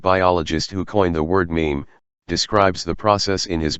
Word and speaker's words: meme: mean ticks is the meme rhymes with team yet unlike an atom